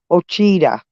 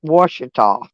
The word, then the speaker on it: Ouachita: cheetah I'm gonna show you c-h-i-t-a Google Maps pronounces it orchida that's so funny I know it's pronounced Ouachita I've been to Lake Michigan but I never